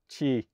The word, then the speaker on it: Qi: knew that before but wikipedia informs me that it's c-h-e-e for the pronunciation of upper q lowercase i i continue calling it q-i